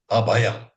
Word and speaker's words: अभयम्: It is Etad Amritam Abhayam, not Etad Amritam Bhayam.